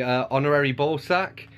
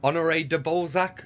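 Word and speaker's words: Honoré de Balzac: the Atheist mass by honorary ballsack now Honore de Balzac I think is how you pronounce her name two devastating stories of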